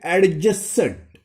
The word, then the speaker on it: adjacent: लिखते हैं spelling एडजेसेंट, लेकिन पढ़ना है आपको एडजेसेंट.